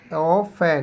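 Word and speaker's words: often: an ideal teacher is অফেন এখানে কি হবে স্যার ইজ অফেন অফেন এখানে কিন্তু টি এর উচ্চারণ হয় না উচ্চারণটা কি কি হবে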